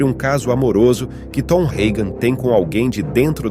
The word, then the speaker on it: Hagen: Tom Hagen, ou Tom Hagen, para quem prefere a pronúncia original germânica, foi o braço direito de Vito Corleone, principalmente após a morte do antigo consigliere Genco.